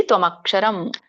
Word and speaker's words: ತ್ವಮಕ್ಷರಂ: ಇದೆ ಇದರೊಂದು ಉಚ್ಚಾರಣೆ ನೋಡೋಣ ತ್ವಮಕ್ಷರಂ ಇಲ್ಲಿ ಬಿಡಿಸಿದಾಗ ತ್ವಂ ಅಕ್ಷರಂ ಅಂತ ಆಗುತ್ತೆ ಕೂಡಿ ತ್ವಮಕ್ಷರಂ ಪರಮಂ ವೇದಿತವ್ಯಂ ವೇದಿತವ್ಯಂ ಇದು